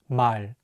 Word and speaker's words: 말: The 리을 consonant is at the end of the word, so it will be pronounced as L. Let's say it together, 말.